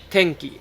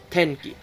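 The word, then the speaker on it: てんき: Now, you probably heard that I say tenki, not tenki.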